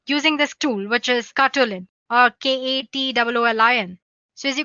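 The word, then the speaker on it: Katoolin: So guys, we'll be using a tool called Katulin. Let me spell it for you guys. It's Katwolin.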